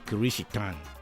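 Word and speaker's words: キリシタン: Eventually, one of the vocabularies adopted to denote a follower of Christ was the Japanese term pronounced chrstian, which sounds like Christian in the English language, but in the Japanese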